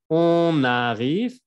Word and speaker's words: on arrive: On arrive. Aquí hacemos la liaison. La N se va a pegar.